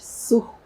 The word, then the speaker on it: Tsur: Hoje eu tenho a grata satisfação de entrevistar uma mulher belíssima, além de competente, né, minha amiga Tur, assim que ela fala, Tur.